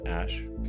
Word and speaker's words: Æ: The A-E is like pronounced ash.